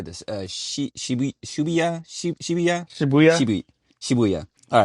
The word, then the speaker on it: Shibuya: right how do you say this sh shya Shibuya sh Shibuya all right uh when kyota a